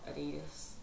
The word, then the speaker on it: Adidas: first ever collection for Adidas I have to pronounce it like that because that's how you pronounce it um I have honestly